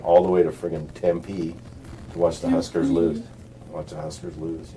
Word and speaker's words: Tempe: Tempe. I think it's called Tempe. Is it Tempe? Word. I think it's Tempe. Tempe. Okay, maybe I put the emphasis on the wrong syllable.